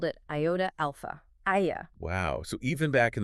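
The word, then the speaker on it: Ἰά: And how did he spell that two-letter form in Greek? He spelled it iota alpha, Aya.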